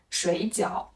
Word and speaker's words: 水饺: 是声调，有一个很典型的问题是水饺和睡觉，因为发音不一样，听起来